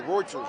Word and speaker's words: Reuters: How do you pronounce it? Roy. Oh, Reuters.